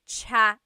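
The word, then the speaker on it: tsaa: that you drink and it's spelled TSA a chaa cha that's such a talug spelling I love it there's the TS sound and then the double vowel uh pronunciation cha it's so Tagalog yes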